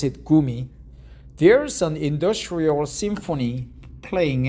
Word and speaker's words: Gumi: On the floor of Nongshim's noodle factory in the city of Gumi, Gummy, but actually we pronounce it Gumi.